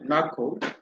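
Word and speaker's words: NACL: So the option A says a network access control list, that is the normally called pronounced as NACO, a network access control list with a rule that allows outbound traffic on port 443.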